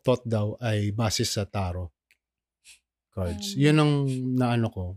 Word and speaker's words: tarot: Taro. Ano ba ang ang magandang ano ba talaga ang pronunciation?